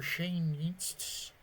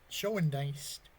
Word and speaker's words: Schoendienst: Easy play for Shane Dienst. Schoendienst. I always pronounce his name wrong.